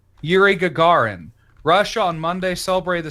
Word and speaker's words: Yuri Gagarin: ex yeah oh here it is here's properly pronounced yuri gagarin russia on monday celebrate the 60th anniversary of